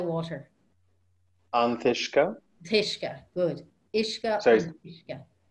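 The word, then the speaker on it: an t-uisce: Ishka, Anthishka. Anthishka, with a th. With a T in front, yeah, Anthishka. Yeah. Perfect. So drink the water. All Anthishka. All Anthishka, good.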